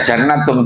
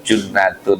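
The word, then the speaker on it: جُنَّةٌ: Jangan dibaca jannatum. Dulu ada di pondok tambak beras. Ee jadi lagi khotbah bilang bahwa innamu jannatun. Bahwa puasa itu menyebabkan masuk surga. Artinya masuk saja sebetulnya tapi bacanya bukan begitu. junatun bahwasanya puasa itu menjadi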